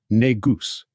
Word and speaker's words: negus: The Amharic word is pronounced negus which is different from the pronunciation of the slur further demonstrating they are not connected.